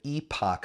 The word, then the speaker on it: EPOC: it creates something called the epoch effect and that's spelled EP o all right another acronym